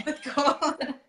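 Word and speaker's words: Porthcawl: And she lives with her beagle Nellie in a small seaside town called Portcall. Is that how you say it? Portcall. Portcall. Yeah. Portcall.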